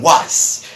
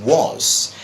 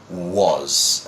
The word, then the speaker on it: was: them they have the worst time trying to pronounce this well that is is it what because I can't lots of people saying was well no it isn't it was and I keep repeating all my students who